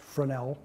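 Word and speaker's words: Fresnel: reef has a second-order Fornell lens FRES nal pronounced fran l and there are four five in Great Lakes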